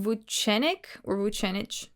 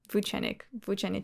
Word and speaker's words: Vucenic: I had a Serbian friend in high school whose last name also ended in IC, and she said that it was pronounced itch. Though I've heard most people pronouncing it ick.